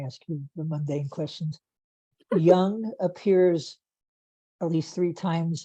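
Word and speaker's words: Jung: people like contemporary philosophers yeah no like Carl Young is spelled j-u and G if that's what you're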